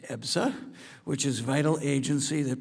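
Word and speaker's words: EBSA: In July, the subcommittee held a hearing examining the Department of Labor's Employee Benefit Security Administration, known as EPSA, pronounced EPSA, which is vital agency that protects workers hard-earned health and retirement benefits.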